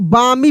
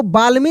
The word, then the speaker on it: balmy: तो इसको हम बामी पढ़ेंगे। क्या पढ़ेंगे? बामी, बामी पढ़ेंगे। इसको बाल्मी नहीं पढ़ेंगे, बामी पढ़ेंगे। यानी एल क्या होगा? साइलेंट लेटर होगा, ठीक ना।